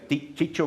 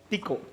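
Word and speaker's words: Tycho: ¿Cómo se pronuncia? ¿Chicho Brahe? Tico.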